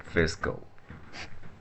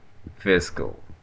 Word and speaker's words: fiscal: In British English, the stress is on the first syllable, fiss.